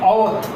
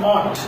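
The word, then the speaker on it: אות: mark in Cain is, Strong says it as Owth. Alright? They say it as O-W-T-H. That's how they spell it out. Alright? Actually it is the Ot, which is the Aleph, Waw, Tau.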